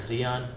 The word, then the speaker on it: Zion: Is it Zion or Zion? It's Zion.